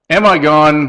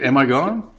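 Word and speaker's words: Amigone: mr stubbs how about am i gone funeral home services that again is a last name now this is pronounced amigon and we got a but it looks like am i gone you better hope so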